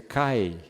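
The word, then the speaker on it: καί: No grego essa palavra, essa palavrinha se pronuncia Cai K a i for transliterar pro português,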